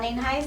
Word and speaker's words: Nienhuis: It's spelled N-I-E-N-H-U-I-S, and the pronunciation is Nienhuis.